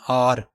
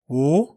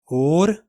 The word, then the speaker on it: or: करते हैं ओ आर, इसको हम पढ़ते हैं आर। तो आर इसको पढ़ना गलत है। देखते हैं इसका करेक्ट प्रोनाउंसिएशन क्या है। ब्रिटिश इंग्लिश वाले इसको पढ़ते हैं ओ, और अमेरिकन इंग्लिश में क्योंकि आर को रियलाइज़ किया जाता है, आर को पढ़ा जाता है, तो इसको पढ़ेंगे और।